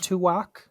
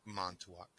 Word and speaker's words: Montauk: Mantuak, so It's Montauk.